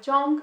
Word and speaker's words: zhong: In China, they were known as Bianzhong or Zhong, which is spelled Zong, like Bronzong.